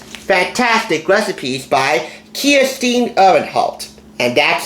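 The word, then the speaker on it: Kirstin Uhrenholdt: With over 75 kid-approved, as she says, fantastic recipes by Kirsten Ehrenholt, and that's how you pronounce her name, Kirsten Ehrenholt, a native of Denmark.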